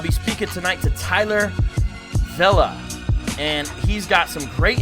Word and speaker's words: Vela: All right, so it is Vela, right? I heard you pronounce it, and I thought that's what you said. Yep, Vela.